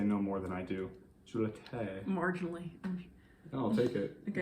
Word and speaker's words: Jollite: Well, the accent over the E is an E, so it's Jollite. Jollite.